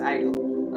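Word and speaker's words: idyll: know I know okay it just it's just pronounced Idol okay an extremely happy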